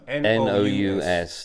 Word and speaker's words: nous: N-O-U-S, Oh, nous. Yeah, moose. nous, yeah. I see with an I N.